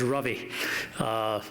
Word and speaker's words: Ravi: a new India well my name is rightly pronounced as Ravi rhymes with lovey and dovey but because it's so anglicized they call it Ravi whenever I was on